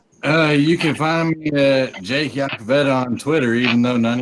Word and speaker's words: Iacovetta: You can find me at Jake Yakavetta on Twitter, even though none of y'all can fucking spell it or say it right.